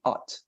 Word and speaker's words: ought: No, for at, although maybe you're tempted to pronounce it like out, when you listen to how Americans pronounce this word, they don't pronounce it like that.